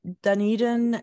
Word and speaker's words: Dunedin: going to all kinds of little places uh Dunedin and that's where the that's how you pronounce it that's where the conference is going to be this year oh in Dunedin oh cool I got schooled by my husband